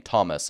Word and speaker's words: Thomas: This is why the name Thomas is not pronounced thus even to this day.